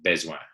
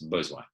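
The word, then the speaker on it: besoin: of other romance languages they want to go beswan but it's bizwa and it's dead dead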